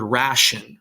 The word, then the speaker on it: ratio: never a sh sound sometimes in english we may get that like if you think of the word ration right that sha sound comes from the t followed by the eye that's not happening in latin right that word in latin would be ratio right it's a tio